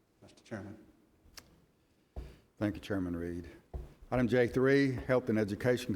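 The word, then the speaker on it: Read: The name is Reed, not Red.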